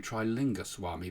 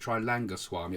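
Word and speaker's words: Trailanga Swami: Swami uh had lived I always call him try linga Swami but I think his name is pronounced trilanga Swami I'm getting it wrong a bit he was mentioned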